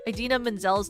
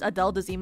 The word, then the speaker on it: Idina Menzel: It's like Adele Dazeem where like they pronounce Idina Menzel's name as Adele Dazeem in an award show.